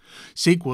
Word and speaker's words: SQL: SQL is pronounced SQL, not SQL. We don't say S-C-U-B-A, we say SCUBA.